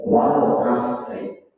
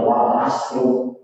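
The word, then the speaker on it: وَالْعَصْرِ: Seperti kita baca wal asri. Tiba-tiba imami bacanya wal asru. Wah, ini. Jadi imamnya sangat mengertikan bacanya wal asru. Wal asri.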